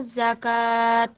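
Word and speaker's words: زكاة: perlu diperbaiki ya pertama ketika ada tak marbutoh di belakang ini seperti zakata Hai ada tak marbutoh nya kan di situ tak bulat dan ketika dibaca waqaf maka bacanya berubah menjadi hak sukun Jadi bukan Jakarta tapi zakat jadi bacanya seharusnya seperti yang ketiga tadi yang pertama juga sudah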